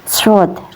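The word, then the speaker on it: ص: Cara melafalkannya seperti bersiul. Sword. Sword. Ya. Sword. Sword. Huruf sword ini keluar dari ujung lidah yang menempel pada dinding bagian dalam dua gigi seri bawah. Sot. Cara melafalkannya sw seperti bersiul ya teman-teman. Sot sw ya ada suara desis-nya.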